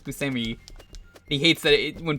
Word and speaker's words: Buscemi: we're gonna bring it up that it's actually pronounced busami he hates that it when people say Buscemi John Favreau this came out a year after